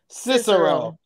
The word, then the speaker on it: Cicero: fit with it so the name of the stadium is Cicero Stadium Cicero that's how you pronounce it I don't have